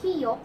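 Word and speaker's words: 기역: This is the Kiyok written in Korean only, okay? So the consonant Kiyok is soft G or soft K sound in the beginning but K sound in the final or in the end, okay?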